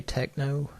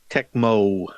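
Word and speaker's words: Tecmo: never played it at well you mispronounced it did you say techno I'm sorry to disappoint you techmo techno techmo I always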